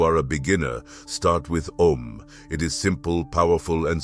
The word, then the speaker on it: Om: If you are chanting om, pronounce it in three parts a, u, and m.